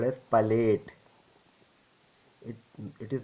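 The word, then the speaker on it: palate: oral cavity and nasal cavity is called as Pate it it is not pronounced as plate it is pate clear and this one is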